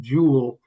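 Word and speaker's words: joule: I'm going to use a term jewel and just for purposes of transcribing this that is spelled J O U L E in this sense.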